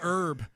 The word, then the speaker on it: herb: They don't like that we take out the H, you know.